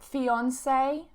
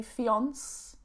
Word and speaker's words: fiancé: You do have a couple of exceptions, especially if we have taken them from French, like fiancé, for example. I don't say fiance, but I add the E at the end, fiancé.